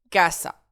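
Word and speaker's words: casa: Cassa, mon mot se termine par une voyelle. Donc, j'accentue mon avant-dernière syllabe. Kassa.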